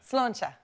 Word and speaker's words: sláinte: And then a good one for cheers is sláinte. Sláinte. Yeah. You say that a lot now. Sláinte. Sláinte. Sláinte. Is that right? Not sláinte. Sláinte. I'm from Southern Ireland.